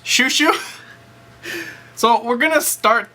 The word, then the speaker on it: Shizuku: It's called It's pronounced Shushu.